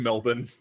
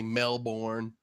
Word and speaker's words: Melbourne: so you just saved Melbourne that's how it's pronounced Melbourne yeah I'm not from Australia though yes but Melbourne is how they correct you if you say male born they're from that male